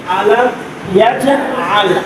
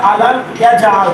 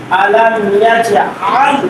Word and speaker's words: ألم يجعل: يجعل كيدهم في تضليل আলাম ইয়াজআল আলাম ইয়াজআল এখানে আইন আছে না হামজা আছে আর কেউ যদি বলে আলাম ইয়াজআল তাহলে কি হয়ে গেল